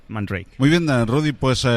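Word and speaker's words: Man Ray: pronuncia realmente andrei que él piensa que en francés sería posiblemente algo como mandó aquí pero que normalmente utiliza la pronunciación inglesa más extendida man rey muy bien dan rudy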